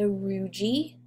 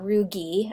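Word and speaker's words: rugae: Those folds are called the rugi, or rugi, actually, is how you say it. Either is acceptable.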